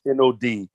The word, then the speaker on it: Nad: That is pronounced as if it's NOD.